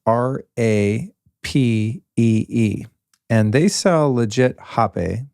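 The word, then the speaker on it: rapé: And they sell legit hape. It's kind of spelled like rape, but it's pronounced hape by most.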